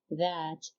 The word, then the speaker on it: that: يعني كنشوفوا كل هاد البروناونز they start with th plus a vowel. يعني فين ما كنشوفوا في أي كلمة th plus a vowel كتنطق ذ، يعني ذا العجمية اللي هي في اللغة العربية كيف ما كنطقوا ذهب أو ذئب.